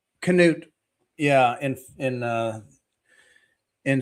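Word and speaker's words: Knut: Canoot. Apparently that K is not silent. Canoot.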